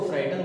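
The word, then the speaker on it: frightened: GH जो होता है, GH के बाद में जब T आता है, T आने के कारण GH का जो साउंड है वो लो हो जाता है या फिर उसका उच्चारण नहीं होता, तो फ्राइटन, इसको फ्राइटन बोलेंगे।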